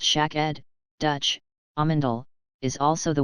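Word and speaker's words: שקד: 22 Interestingly however, in Hebrew and Dutch, the word for almond, Hebrew, pronounced shak-ed, Dutch, amandel, is also the word for tonsil.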